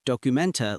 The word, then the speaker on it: Dokumente: Documenta looks almost identical to the English word documents, just add an e sound at the end.